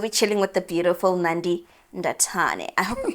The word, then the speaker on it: Nandi Ndathane: Chilele with the beautiful singer, songwriter, composer, Nandi Ndathane. Am I saying it right? Awesome. Nandi Ndathane.